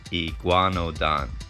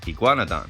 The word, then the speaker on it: iguanodon: course, or it can sound like I, but here it's E. Gua, igua, G-U-A, gua, N-O, no, D-O-N, don, iguanodon, iguanodon.